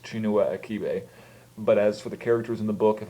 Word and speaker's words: Chinua Achebe: fairly certain the author's name is pronounced chinua aibe but as for the